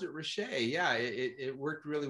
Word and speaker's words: Rachea: see it i i could see that you pronounced it richey yeah it it worked really well well listen